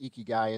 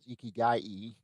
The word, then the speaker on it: ikigai: harmony uh ikigai and there's different ways to pronounce ikai the american way is is ikigai and then the japanese is ikigai so either either way of saying it works pretty good but we